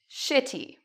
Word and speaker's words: shitty: Shitty, shitty, okay? So you can say that once. Shitty. When we say it, the TY almost becomes like a DY sound.